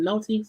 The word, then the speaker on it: cenote: I know the one Storm pronounces C note, which I know is wrong, okay?